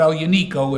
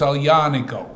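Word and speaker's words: Aglianico: Torino and actually he told us how to pronounce alianico yeah it is officially now it's not El Unico it's all yaniko alianico that makes more sense and he's uh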